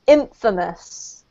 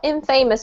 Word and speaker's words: infamous: here our donor is infamous can you see which one I'm highlighting yes are not in famous but infamous in famous the emphasis is on the first syllable so it doesn't actually